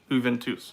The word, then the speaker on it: Juventus: expected I suppose you you Ventus Juventus okay Juventus okay Juve into okay I've got too many different too many different pronunciations going on here I'll have to listen